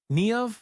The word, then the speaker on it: Niamh: Niamh like Neve.